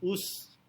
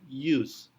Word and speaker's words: use: Kemudian ada use, bukan use, tetapi use. Walaupun dimulai dengan huruf U, pengucapannya seolah-olah dengan menambahkan Y di depannya.